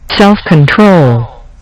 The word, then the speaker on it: self-control: Now, you can see that this particular word is a 3-syllable word, and the first syllable is emphasized, self-control. The third syllable is emphasized as well, and that's the reason